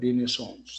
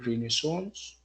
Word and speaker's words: renaissance: impacted and inspired by the the renaissance that you renaissance coordinations by the way the two pronunciations are correct oh yes was about